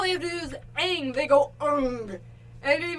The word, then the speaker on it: Aang: Like you got Aang, and then they pronounce it Ung, and it's just like,